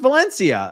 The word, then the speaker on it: Valencia: Oh, it's pronounced Valencia. Oh, okay. There we go. I'll never forget it again. It's pronounced Valencia. I just decided to spell it like that.